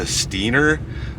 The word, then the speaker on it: Steinauer: achieved over the years the pronunciation of the name involved evolved to steener though the original spelling has been retained today steener is the